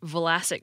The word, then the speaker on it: Vlasic: so when we try, we stick a little space between them, out of necessity, and often without perceiving it, like the way we may pronounce the Croatian name Vlasic Pickles like Vlasic. But in Croatian and other languages, such as Russian, that combination is common, so the speakers effortlessly blend the two sounds.